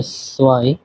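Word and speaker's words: zwei: 2 কে বলা হয় সোয়াই।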